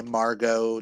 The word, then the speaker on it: Margot: He He The reason why Margot doesn't like Oh, it is pronounced Margo. The T is silent.